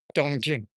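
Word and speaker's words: 东京: In Japanese, they're pronounced to, kill, and in Chinese, they're pronounced dongjing. Dongjing, actually. Jing, rising. Jing.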